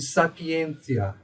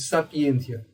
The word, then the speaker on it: sapientia: Consoantes t e ti pronunciam-se como si. Então, por exemplo, nessas palavras, eu diria amicitia e sapientia. Amicícia e sapientia.